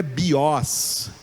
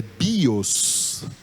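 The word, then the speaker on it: βίος: em cima do ômicron, mas quando eu pronunciei, é o bi que é a sílaba tônica, é o iota que forma a sílaba tônica, é o bi, não é o os, não é bios, é bios.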